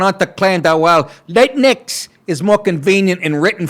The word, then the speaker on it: Latine: Ocasio-Cortez went on to claim that while Latinx is more convenient in written form, can you imagine spending this time? Another gender-neutral term, Latin, I guess that's how you pronounce it, like latrine. Latine.